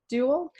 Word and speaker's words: Dewell: This is Dewell. You know, I didn't actually ask you. Do you pronounce it Dewell? You are spot on. Rhymes with jewel.